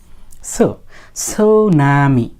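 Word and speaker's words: tsunami: ওরা করে না সুনামি এস এর পূর্বে টি থাকলে সেই টি এর উচ্চারণ হয় না সাধারণত আচ্ছা যাই হোক এবার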